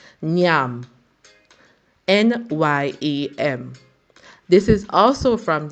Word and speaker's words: nyam: Now, the third word we're going to speak of, a Jamaican word, is Nyam. Nyam.